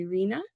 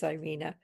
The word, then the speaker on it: Ireina: Um, I I Inreina, I just did this. Yeah, that's Yes, you did pronounce it right. It is Ireina.